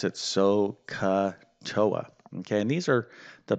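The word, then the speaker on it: SOHCAHTOA: is this little phrase right here yeah we pronounce it soca toa okay and these are the basic trigonometric ratios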